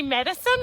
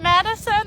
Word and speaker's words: Madison: really hate it when people like call me medicine i'm like i'm not madison that's not my name